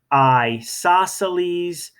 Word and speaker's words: isosceles: tick marks okay and we call it an isosceles triangle say with me I saw Sally's triangle you sort of pronounced it like an eyeball I saw Sally's triangle say one more